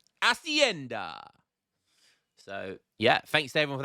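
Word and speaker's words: hacienda: of videos ago um I don't pronounce the h so instead of Hashi Ender I say asenda asenda so yeah thanks to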